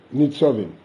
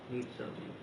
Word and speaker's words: Nitzovim: How do you pronounce the topic that you're talking about, the Nitzovim? Nitzovim. That's the name of the Parsha. Nitzovim.